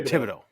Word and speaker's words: Thibodaux: is it is it Fido how do you pronounce City TI Tibido Jeremy was right knew it um and then